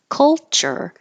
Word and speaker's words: culture: Culture. This is really a K and an L combination, so that at the same time your back of your tongue is making a K, kul, kul.